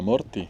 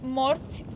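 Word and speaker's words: morți: Y, qué lindo como suena, morti. No, es morts, pero es que le falta como una coma allí a la T, como que no está bien escrito ortográficamente. Entonces, ¿cómo se dice? Morts.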